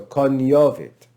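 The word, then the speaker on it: cognovit: but it's pronounced lasagna that italian pronunciation is present in ecclesiastical pronunciation so kanyovit now just for the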